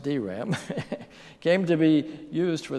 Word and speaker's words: DRAM: transistor dynamic memory cell the acronym dram pronounced dram came to be used